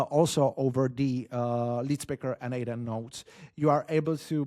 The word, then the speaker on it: n8n: the ID and sorry the proper pronunciation of Nathan is Naden. So do not copy the Nathan this is Naden Nathan does not exist.